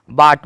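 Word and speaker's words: bought: यू क्या है बी ओ यू जी एसटी बाट बाट मतलब होता है ना खरीदा अब देखो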